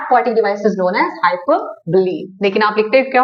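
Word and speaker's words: hyperbole: Active बच्चा है, तो हाइपर और बली, बली मीन्स बोले, मैंने आपको बोला था स्पेलिंग तो आपको बोले का ही लिखना है।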